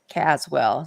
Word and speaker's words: Caswell: you in cwell County somebody just asked Caswell Caswell so good low yes Caswell County I pronounced it wrong okay yeah I'm right on